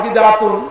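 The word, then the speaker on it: بدعة: আর একটি বিষয় হলো বিদআ বিদআ আসলে বলা হয় বিদআতুন বিদআত বলা হয় আরবিতে শেষে যদি গোলতা থাকে তাহলে সেটা হা উচ্চারণ করতে হয় যেমন আল কারিআতু মাল কারিয়া সেই দৃষ্টিকোণ থেকে বিদআ এটি হলো পরিশুদ্ধ এর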